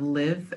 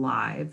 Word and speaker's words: live: We have live and live.